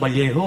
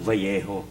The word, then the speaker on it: Vallejo: Sabi ko wow pare ang ganda pa ng valjo. No. Sabi niya porky careful. Bakit? Kasi dito sa Vallejo 'ag double L ang pronunciation niyan Vallejo. Oo. Bakit Valjo? Kasi double L eh.